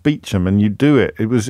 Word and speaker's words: Beauchamp: The only one I can ever remember is Beecham, where it's spelt Beauchamp, but pronounced Beecham, and you do it.